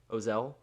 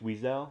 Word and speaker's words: Wiesel: yeah that's him okay how do you say his last name ozell i think it's weisel weasel okay i think that's right but um yeah so